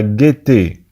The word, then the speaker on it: gaieté: انتبهوا معنا تكتب la gaieté لكنها تنطق la gaieté.